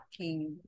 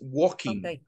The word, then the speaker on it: walking: after me walking walk walking the L is silent it's walking walking walking at night